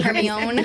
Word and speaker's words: Hermione: Hermione. I didn't know what it was. It is not pronounced how it is spelled.